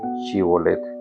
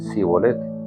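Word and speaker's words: שִׁבֹּלֶת: pronunciación de la palabra Shibolet. Efraín no podía pronunciar la palabra shibolet y en cambio decía cibolet.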